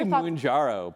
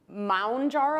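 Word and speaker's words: Mounjaro: wait what are your I say mojarro but I I'm sure I'm wrong so who clap your hands if you say mojarro jaro are there any other pronunciations of M jaro I think m jaro is what they say on the television commercials um is it really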